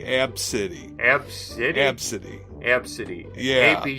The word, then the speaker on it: Abcde: it's well it's pretty it's spelled ABCDE ABC so I got ABCD they she pronounces supposedly AB City absolute absentee absentee yeah